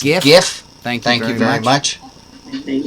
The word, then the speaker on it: GIF: Also, my official Rabbi ruling, it is pronounced GIF.